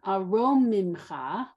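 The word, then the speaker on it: אֲרוֹמִמְךָ: Aromimcha. Aromimcha. Okay, you need the ro as the second syllable.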